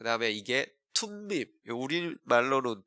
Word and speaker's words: 둠밈: 그 다음에 이게 툼밈, 우리말로는 둠밈 이렇게 돼 있는데 사실 이제 T 발음이 맞아요.